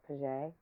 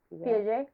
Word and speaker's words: Piaget: Piaget. Piaget. Piaget.